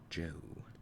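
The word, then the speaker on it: Zhou: Joe Joe Joe dynasty is pronounced as if written Joe and sounds just like the English name Joe Joe Joe Joe chronology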